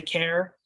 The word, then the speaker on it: char: I pronounce this CHAR as car. Some people say care. I'm probably going to say car because that's what I'm used to. I don't guarantee that that's right.